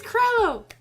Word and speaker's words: Crello: stupid to pronounce things I am NOT talking about Trello it is chrono and chrono is kind